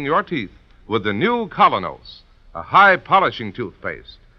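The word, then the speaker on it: Kolynos: You can get the new Colonos in any drugstore tonight. It's spelled K-O-L-Y-N-O-S.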